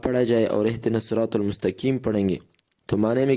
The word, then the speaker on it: المستقيم: معزز دوستو، اہدنا الصراط المستقیم صحیح تلفظ کے ساتھ اس کا معنی یہ ہے کہ یا اللہ ہمیں سیدھے رستے پہ چلا، لیکن اگر المستقیم میں قاف کی جگہ پر کاف پڑھا جائے تو اس کے معنی میں